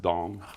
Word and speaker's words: Deng: It's spelled Deng, but I think it's pronounced Dong.